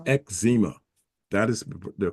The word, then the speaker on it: eczema: is z m a is ma so it's ezma that is the correct pronunciation so I respectfully disagree with your with